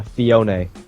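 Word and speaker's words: Phione: Guys, guys, it's pronounced uh Fiona.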